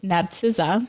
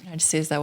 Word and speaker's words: Narcyza: Narcyza. Narcyza.